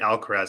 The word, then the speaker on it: Alcaraz: I'll say it Alcaraz.